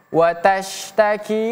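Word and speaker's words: تشتكي: 1 2 3 Q samiallahu quallati tujadiluka fi zaujiha watastaki ilallah 1 2 3 watastaki ilallah tas di sini menggunakan huruf syin huruf Huruf syin berbeda dengan sin.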